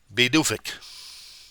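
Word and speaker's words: Pituffik: so according to Wikipedia it's byi or yeah beik beik beik okay that's how they pronounce it it's spelled p i t u ffi k but it is pronounced beic I didn't they did but because of this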